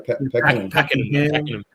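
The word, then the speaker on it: Pakenham: yeah Paul Cook you know I can't pronounce this one. How do you pack him? I remember so I've got a cousin that live used to live out in Packenham and it used to be absolute farmland and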